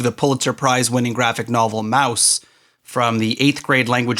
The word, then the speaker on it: Maus: voted to remove the pulitzer prize-winning graphic novel mouse from the eighth grade language arts curriculum due